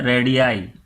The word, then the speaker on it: radii: बहुत सारे रेडियस को हम कहते हैं रेडियाई, RADII, यानी रेडियाई, इसको हम प्रोनाउंस करेंगे एज रेडियाई। और सिंगल एक रेडियस को हम रेडियस कहेंगे।